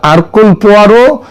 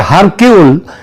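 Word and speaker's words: Hercule Poirot: এখানে তদন্ত চলবে আঘাতা কৃষ্টির যে গোয়েন্দা আরকুল পোয়ারো তার তত্ত্ব অনুযায়ী। আঘাতা কৃষ্টি এবং তার গোয়েন্দা আরকুল পোয়ারো। এটা যদিও ওই উচ্চার উচ্চারণে এটা হয় হারকিউল কিন্তু একচুয়ালি উচ্চারণটা হচ্ছে আরকুলপোয়ার তিনি যদি আজ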